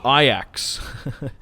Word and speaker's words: Ajax: there's a team called it's spelled the exact same way but it's a dutch team from the netherlands it's called i axe so every time i